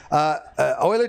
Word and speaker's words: Euler: going to wrap this up in 2 minutes, Euler diagram, yes, it's pronounced Euler, not Euler, Euler.